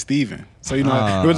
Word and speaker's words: Stephen: s-t-e-p-h-e-n yeah yes exactly it could be either one so then it's like the cooler one is Stefan but mine's is Steven so you know there